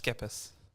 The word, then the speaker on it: Skepis: So, Michael, your name is pronounced Skip. Think about it like a school. Oh, so okay. it's with school, it's SCH. Yeah, so you okay. go skip. So it's Skepis. That's how we pronounce it.